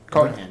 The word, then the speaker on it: Carnahan: And Joe Carnahan came to Carnahan. How you say it? Carnahan, yeah.